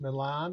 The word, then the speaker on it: Milan: those who are listening It's Milan like the city uh is spelled